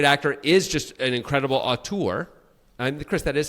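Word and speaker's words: auteur: Uh, but sometimes the guy who's a great actor is just an incredible aur. And Chris, that is how you pronounce it.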